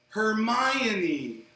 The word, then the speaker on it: Hermione: a movie and then he'll be like, "Oh, Hermione.